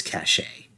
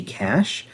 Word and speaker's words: cache: think that one is cachet i i over corrected myself because i i know historically i use the word cachet um i pronounce the word c-a-c-h-e as cache when it should just be cash uh but i believe